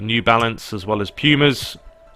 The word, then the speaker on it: Puma: balance as well as Pumas or Pumas as the Americans say my girlfriend always gives me stick for it cuz I say pummer and she's always like you mean Pumas no I mean pummer love that's what I mean there's the Kings they